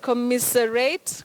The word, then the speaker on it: commiserate: Is it a S or is it a Z? The sound is voiced. That is it's produced with the vibration of the vocal cords. You say Z just like a zed.